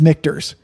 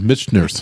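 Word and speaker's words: Michter's: air time since yes and that brand is mikter's go ahead and say it well it's mikters right but i originally pronounced as mitch nurse that's right and then um i was corrected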